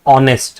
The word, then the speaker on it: honest: But see when you pronounce this word it says honest right? The word that is coming out is O.